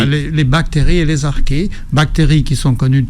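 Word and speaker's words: archée: le monde et les arqués qui ne sont connu de personne c'est très surprenant arqué comme son nom ne le dit pas à la radio ça s'écrit ah r C H e e et ça a été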